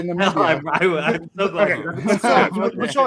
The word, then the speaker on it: Namibia: Maybe Namibia, but no, Nambia I believe should be a country. But hold on. This speaks to kind of the bigger like. Fuck, I have been mispronouncing it. Namibia. Okay, Namibia.